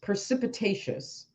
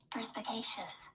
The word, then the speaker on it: perspicacious: Precipitacious. How do I just forgot how to say it. Perspicacious.